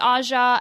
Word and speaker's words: Aja: one point the black girl was named AHA and it spelled aja so it could but I remember just thinking watching it this time like it sounds like you're just giving a more posh pronunciation to the word aja Oh Asian girls name